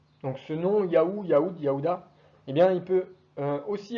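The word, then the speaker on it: יהודה: Juda en hébreu, ça se dit Yaouda, mais c'est aussi un royaume. Et Yaouda étant une prononciation plus juste du terme hébreu.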